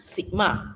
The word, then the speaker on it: sigma: So simbol ini baca sigma, S-I-G-M-A, sigma, cara baca.